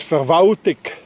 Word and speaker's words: Verwaltung: In Bern, that's being pronounced as Verwaltig. Anybody hears an L? No, it disappeared.